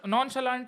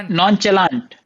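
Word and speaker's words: nonchalant: आउट करूं मैं बताओ दोनों रैपर्स ने जॉनी और पैंथर ने नॉन शालांड गलत प्रोनाउंस किया है। कैसे प्रोनाउंस होता है नॉन शेलांड? जैसे मैंने किया नॉन शलाश हां नॉन शलांट ही होता है ना इसने क्या बोला फिर नॉन चला नॉन चलांत हां उसने भी वही बोला उसने तो नॉन चलांत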